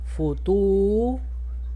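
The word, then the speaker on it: فطور: Fa, doma, fu. To, doma, tu. Extensión de U. Futur. R con su kun. Rr. Futur. Futur.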